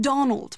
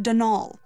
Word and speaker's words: Donal: that was the caretaker denal Delaney not Donald mind you there's no D at the end so it's pronounced denal that's the way you're